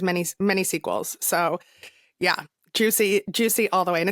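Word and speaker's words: Giusy: many sequels so yeah juicy juicy all the way and it's juicy g i u s y pronounced juic it's just the it's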